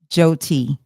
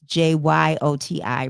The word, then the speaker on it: Jyoti: I wrote, I'll just like Jody, but with a T. Jyoti. Yes. And the Y is what throws me because it's Jyoti, right? And I think that's what, but the Y is silent.